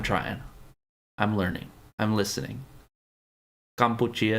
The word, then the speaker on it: Kampuchea: In Khmer language, Cambodia is Kampuchea. I'm trying. I'm learning. I'm listening. Kampuchea is close enough. There we go. It's like kombucha.